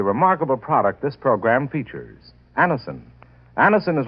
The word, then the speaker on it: Anacin: You can get Anison at any drug counter.